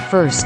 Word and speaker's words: FRST: Fertilizer Recommendation Support Tool, or FRST, pronounced, first.